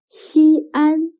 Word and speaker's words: Xi'an: the terracotta warriors excellent xi'an can you write down the opinion of xi'an if we write xin and an together it'll become one syllable means first but xi and are two syllables so when the syllable